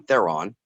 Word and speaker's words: Theron: Great writer director Braun Theron, or Theron. I always mispronounce it, but it's Braun Theron.